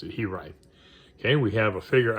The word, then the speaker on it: He-Write: And next we have, this is He-Write. That's how you pronounce it, He-Write.